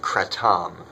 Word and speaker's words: kratom: People call it kratom. It's actually properly pronounced kratom in Thai, but kratom is very exceptionally safe.